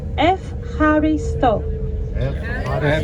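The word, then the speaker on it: εὐχαριστῶ: the act of Thanksgiving the only difference in the pronunciation the Greek and English pronunciation is that the combination of the Epsilon and the Epsilon is an F or F sound in Greek because it's a diphthong whereas in the English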